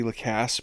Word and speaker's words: Lacasse: The mnemonic I have been using is definitely the gas, Lacasse. Definitely the gas, Lacasse. Oh yeah, you need some gas? Definitely the gas, Lacasse.